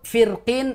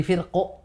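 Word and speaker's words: فرق: ayat 63 ayat 63 Jadi kalau lanjut firqin itu boleh tebal boleh tipis siap namun ketika berhenti di firqu maka dibaca dengan tebal Masyaallah banyak yang perlu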